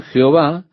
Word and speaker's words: Jehová: El consenso general de opinión es que el nombre sería pronunciado Yahvé, pero en algún momento la pronunciación Jehová se popularizó más que Yahvé.